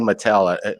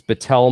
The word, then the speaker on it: Battelle: this materials uh Jeremy everybody's saying Mattel let's spell it for him because uh e-a-t-t-e-l-l-e and it's Patel Memorial Institute and it's in um